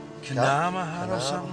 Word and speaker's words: Gunama: Well, that's it's the Aboriginal word, the Ngarigo word for snow. Gunama. Really? Although the white fellows might say Kanama. But it's, you'd say for Gunama.